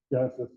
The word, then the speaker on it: Genasys: The Genesis app, if you haven't seen it, it's spelled a little differently, GENASYS, Genesis.